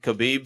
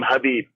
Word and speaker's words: Khabib: Connor at least in khabib XY's I think Connor crossed a line that he'll never he'll never forgive yeah and by the way you pronounce his name hubby there's no K so beep I'm from